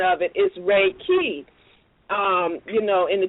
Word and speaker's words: Reiki: it Raa but when you look at the pronunciation of it is Reiki um you know in the TW language so